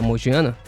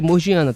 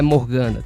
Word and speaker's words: Morgiana: vou chamar ela de morgiana, tá? Porque eu vi muitos resumí que as pessoas chamam ela de Morgana, só que não, não é Morgana, tem o I meio, então é morgiana.